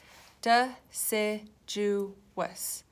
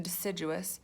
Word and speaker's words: deciduous: is called a deciduous the big word duh se-joo wes remember four syllables in deciduous and you can remember